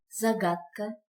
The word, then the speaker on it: загадка: Загадка, загадка, загадка. Звук «д» произносится как «т».